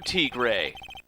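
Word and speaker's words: Tigre: he's terrifying and ferocious furio T gray yes that's apparently how it's actually pronounced so yeah anyway furio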